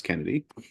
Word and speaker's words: Kennedy: It's not Hmm, Kennedy, it's Kennedy.